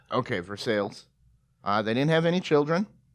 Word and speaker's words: Versailles: I believe they pronounce it Versailles because we're in America. Okay, for sales.